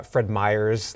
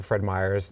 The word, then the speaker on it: Fred Meyer: let's go to Nordstrom's it's like uh Fred Meyers like people will add an S to Fred Meyers it's actually Fred Meyer or Bartels that's